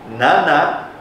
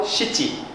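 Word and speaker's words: 七: Ichi ni yon atau shi roku nana atau shichi. Saya tadi bilang shichi . Ada juga nana ni san yon nana atau ni shi hachi ju. Oke, ada dua pengucapan.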